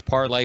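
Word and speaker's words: Parler: a twitter alternative it's it's parlay but it's spelled p-a-r-l-e-r i think it's french and um and it's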